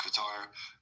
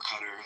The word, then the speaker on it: Qatar: It gets up to almost 140 degrees, like in Qatar or Qatar, as they some pronounce it, or Abu Dhabi.